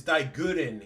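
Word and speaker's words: Daiguren: It's not Dyen. It's Digguren.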